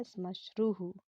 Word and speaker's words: श्मश्रुः: इसका सही उच्चारण करिएगा, श्मश्रुः।